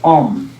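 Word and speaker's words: ཨོཾ: 文里面念的话就是 om，就这样，就是 om，它的发音就是嘴巴这样闭起来 om，这样的就发音是很正确的。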